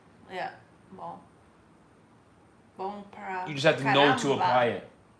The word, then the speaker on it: bom: Like bom would always be bom. If you see something ending in on, it would always be on. Yeah, bom.